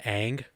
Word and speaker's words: Ng: the last name I believe is pronounced Ang because it's Yes. the last name is always just NG, but I believe it's Ang.